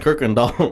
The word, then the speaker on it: Kirkendall: ] spelled cookie candle it's pronounced Kirk and Donald where the is the r i don't know I think it was you we were driving by I don't know how do you pronounce that you're like you're like Kirkendall I'm like where's the r you're like the r is silent there's no art in